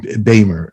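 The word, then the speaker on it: Beymer: and then you had playing tony was richard baimer yeah i pronounced it yes beamer and and did they not get along what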